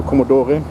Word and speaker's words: Commodore: Opel Commodore, where we are pronouncing the E, so Commodore.